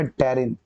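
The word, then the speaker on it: pterin: और एक है बेटा टेरिन, P वहां पे साइलेंट है, तो इसका नाम हो जाएगा तुम्हारा टेरिन प्रोटीन।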